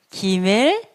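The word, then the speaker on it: ג: 다음 은 기멜 입니다 . 그건 'g' 발음 이에요 . 기멜 .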